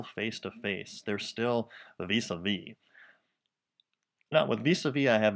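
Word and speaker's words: vis-à-vis: This phrase is pronounced vis-a-vis.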